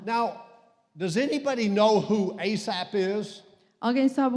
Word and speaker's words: Asaph: Now, does anybody know who Asaph is? Alguém sabe o que é um grande pensamento? There he is right there in Psalm chapter 78. Está aqui no Salmo 78. His name is spelled A-S-A-P-H. A-S-A-P-H.